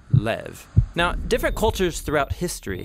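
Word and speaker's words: לב: in this prayer heart which in hebrew is sometimes pronounced lev or more often in a shorter form lev now different cultures throughout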